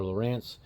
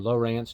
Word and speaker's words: Lowrance: have people that are Lowrance people, or Lowrance, depending on, I guess, what part of the country you're from, how you say it.